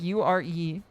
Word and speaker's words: Yuri: Pronouncing Yuri like U-R-E. Okay, that is pretty good. I heard that Japanese has mores. You're supposed to pronounce every sound. Yeah, it's supposed to be U-R-E.